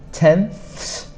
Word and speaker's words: tenths: So it is difficult to say the th sound. Tenths, so you have to put your tongue behind your teeth and go th. So it's tenths, hundredths, thousandths. That one is especially difficult